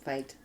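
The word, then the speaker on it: Feit: clergy a Father John fight fight I fi t f e i t they pronounce it fight okay okay yeah he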